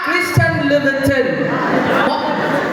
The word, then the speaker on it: Christian Louboutin: Christian Louboutin. Tinood, watch out. Ganun ang pagbasa at pag-pronounce, ana.